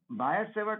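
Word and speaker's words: Biot-Savart: कहा जाता है कि टी इज not pronounced, T नहीं बोला जाता है, बायट-सेवर्ट लॉ।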